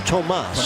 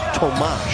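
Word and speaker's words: Tomáš: He said when he played in Spain for 5 years, they called him Tomas. Tomas. Country, the Czech Republic, it's actually pronounced Tomas. Right, with an H at the end.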